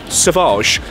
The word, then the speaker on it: Sauvage: I was like, oh, do you have Savage? And she was like, Sauvage. I was like, ah, so that's how you say it.